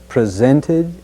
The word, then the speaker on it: presented: as in candidates candidates let's also be sure to include the T sound in presented presented the next key word